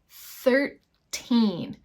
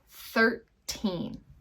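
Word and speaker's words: thirteen: with this number 13 13 we really want a strong sound of the N at the end of that number 13 all right and this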